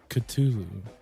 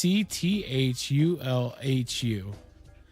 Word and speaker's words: Cthulhu: in there well when Lovecraft originally wrote the Call of Cthulhu or Cthulhu however you may pronounce it he wrote these to be not the human tongue isn't supposed to be able to pronounce these names so that's the closest that we can get to pronouncing these names because there's like four